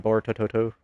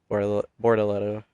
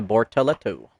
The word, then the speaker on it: Bortoletto: I accidentally called Bortoletto like Bortototo. Yeah, Bortello. Bortoletto is the actual better way to pronounce it. I'm pretty sure I'm still butchering it. Yeah, Bortoletto.